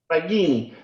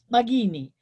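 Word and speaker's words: Maginni: Magini. The hard G.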